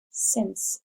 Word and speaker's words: since: Since, S-I-N, and a soft C saying the S sound, and an E.